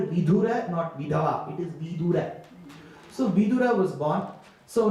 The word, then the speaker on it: Vidura: See, in Sanskrit, you have to be very careful with the pronunciation. It is Vidura and not Vidura.